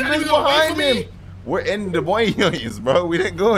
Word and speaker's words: Des Moines: Oh, we're in Des Moines. We're still in Des Moines. Des Moines? How do you actually pronounce that? Des Moines. Des Moines. Des Moines. It's Des Moines.